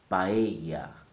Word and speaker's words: paella: The correct pronunciation is in 3 syllables. Pa, e, ya. The stress is on the E sound. So I'm going to say it 3 times. Paella, paella, paella.